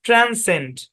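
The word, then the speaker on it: transcend: ট্রান্সেন্ড, ট্রান্সেন্ড, ট্রান্সেন্ড। কি উচ্চারণ? ট্রান্সেন্ড, ট্রান্সেন্ড দুই ভাবে পড়া যায়। ট্রান্সেন্ড, এখানে এসসি একসাথে আছে, পরে ই আছে, সিটা সাইলেন্ট।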